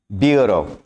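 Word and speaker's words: bureaux: ब्यूरो, ब्यूरो का plural ब्यूरो। बोला इसको एक्स प्रोनाउंस नहीं किया जाता इसमें, ब्यूरो।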